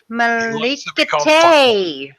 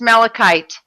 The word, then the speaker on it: Malachite: But it was By the way, Turtle, Fuqua, Malikate. That's how I first pronounced his name, was Malikate. Because I was thinking Kumite. Malikate. No, it's Malachite. The E is silent.